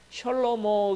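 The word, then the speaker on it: שלמה: 가지고 있는 뜻이 있습니다 솔로몬 에 히브리 발음 그대로 하면 셜 어머 가 되는데요 셜 어머 라는 말이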